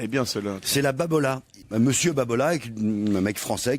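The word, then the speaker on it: Babolat: Il me semble qu'il y a un R ou un L à la fin, non? Non, c'est Babola.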